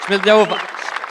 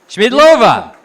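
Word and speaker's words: Schmiedlová: Smidova. Oh, wait. I told her when I give her the look, she has to say her name. Ready? Schmidlova.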